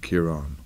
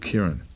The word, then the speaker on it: Ciaran: accent on mine and if you're from the south of Ireland you would pronounce it Kiran everybody from Dublin said they call him Kiran right because it was an accent but I'm from the north they don't bother with accents up there so I've always been called Kieran so that's how I would say my name my name is but